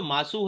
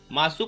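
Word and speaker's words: ます: तो यहां पे भी जो मासू है मासू को मासू ना पढ़ के मास पढ़ा जाता है। तो ये दो ऐसी जगह है जहां पे यू को हमेशा साइलेंट आप करेंगे। यू का साउंड नहीं दिया जाता है।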